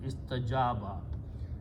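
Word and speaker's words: استجاب: First of all, istajaba, this waw is pronounced as alif because of a fatha, so it becomes istajaba.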